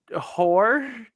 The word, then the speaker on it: Hoare: We got a Hoare. It's spelled not how I'm pronounced. It's Hoar.